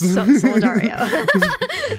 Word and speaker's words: Solidario: Yes. Solidario. It's the Spanish or Portuguese equivalent to Solidary.